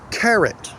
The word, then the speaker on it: carrot: Carrot. Carrot? No. We do not pronounce the vowel in the non-tonic syllable.